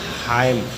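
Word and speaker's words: hymn: है इसे पढ़ेंगे मम एच वाई एम एन इसको पढ़ेंगे हाम नेक्स्ट नेक्स्ट ओ नॉट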